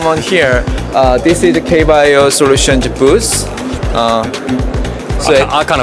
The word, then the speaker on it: K Bio: it kbi IO Solutions is it kbio how do how do I pronounce it we go by K bio Solutions K bio so we are the number